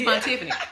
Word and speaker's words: Vontifany: It's Vontifany, right? So I actually have been getting it wrong. She's like, you expressed the Vaughn. Tiffany.